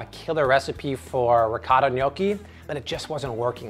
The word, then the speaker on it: gnocchi: I was recipe testing this with ricotta cheese and almond flour because I have a killer recipe for ricotta gnocchi, but it just wasn't working.